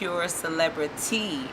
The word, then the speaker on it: Celebritea: My company's name is Celebritea, and it's spelled T-E-A, not T-Y, because it's an all-natural detox and cleanse company that I started from my kitchen.